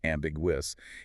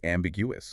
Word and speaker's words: ambiguous: It's four syllables. Amjwc, you don't want to swallow that third syllable. It's not ambiguous. It's ambiguous.